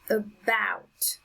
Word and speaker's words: about: second syllable number seven about about on the second syllable it's the strongest sound